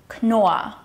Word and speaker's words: Knorr: In this case, however, we've got two so-called silent Rs. So it's pronounced Knorr, yeah? Not Knorr or Knorr, but Knorr. Knorr.